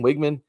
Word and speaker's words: Wageman: Wiggman, is that how you say his name? Wiggman.